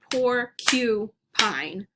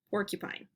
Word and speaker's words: porcupine: some people say poor i gotta think how i say porcupine i say poor q pine porcupine some friends say porka pine and some say porky pine so however you say it still three syllables all right let's do